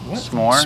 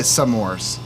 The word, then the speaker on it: s'mores: it's a real quick one how would you pronounce the graham cracker chocolate marshmallow dessert s'mores s'mores s'mores okay s'mores why not some people say some mores what give me some more give me some